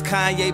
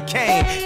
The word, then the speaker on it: Kanye: Now all I need is y'all to pronounce my name as Kanye, but some of my plastic still say Kane.